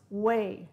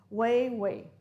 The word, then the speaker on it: weigh: Of course, don't pronounce the G. It's pronounced weigh, just like this word here. Way, way.